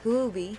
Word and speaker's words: Huobi: torum b21 capital heco is actually huby's decentralized huby that's how you uh actually that's how you pronounce it it's very hard so it's a